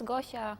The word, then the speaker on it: Gosia: And is it, am I pronouncing your name right, Gosia? Yes, it's Gosha.